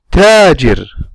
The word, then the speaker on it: تاجر: We don't say تاجر or تاجر. We say تاجر. I'm going to show you in the video now how do I pronounce it exactly. Assalamu alaikum. This is how I pronounce the letter ba, ba, ba, ba. And this is how I pronounce the letter ta, ta, ta, ta. I don't say tajir. I say tajir, bab, bab.